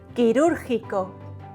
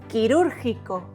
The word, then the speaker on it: quirúrgico: Quirúrgico. Q plus U plus I or E is pronounced que, ki.